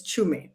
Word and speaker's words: Tshume: Uh, so there's a in the middle and then my surname is Chum.